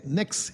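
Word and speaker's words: Pnyx: देता हूं ये देखिए इसको कहते नेक्स हिल पी एन वाई एक्स नेक्स हिल पी साइलेंट है।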